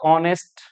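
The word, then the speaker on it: honest: है ही इज ए ऑनेस्ट worker इसमें error यहां है एच साइलेंट है ओ से शुरू हो रहा है य तो क्या आएगा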